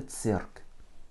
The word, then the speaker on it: цирк: Une seule voyelle, donc une seule syllabe, donc l'accent tonique dessus. Cirque. Еще раз. C, I, R, K. Это цирк.